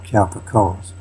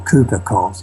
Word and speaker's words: Cowper-Coles: Okay, well, the one who headed the operation, that was Gerard Cowper-Coles, or Cooper-Coles, I think as it's pronounced.